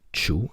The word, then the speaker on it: Chue: but raised in Fresno Luke 2 pronounced Chu studied graphic design California